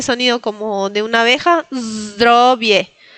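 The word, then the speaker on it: zdrowie: Zdrobie. Ven que digo la z drobie. Sí. Eh, recuerden de hacer ese sonido como de una abeja. Zdrobie.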